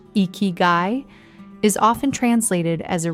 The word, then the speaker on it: ikigai: In Japan, the word ikigai, pronounced ikigai, is often translated as a reason for living.